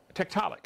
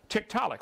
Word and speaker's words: Tiktaalik: show us one get comfortable said tick telic Tiktaalik that's how they pronounce it Tiktaalik well that was easy any other questions and